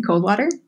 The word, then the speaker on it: Coldwater: twitter at a teen cold water which is spelled just like it sounds like cold water Ian thank you one